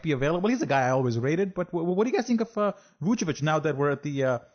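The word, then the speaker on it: Vučević: Vucevic, because they also signed Ibaka in that trade.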